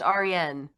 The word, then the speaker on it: Arienne: It's actually pronounced Arienne. Arienne, I'm sorry.